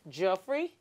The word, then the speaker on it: Geoffrey: one you're wearing sorry so your name is pronounced jeffrey yeah jeffrey are you sure why why have